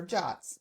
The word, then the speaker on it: JWT: JWT stands for JSON web token and it's pronounced Jot.